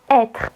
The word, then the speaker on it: être: Si vous avez un accent circonflexe sur le E, donc le chapeau, vous allez dire est, comme dans être.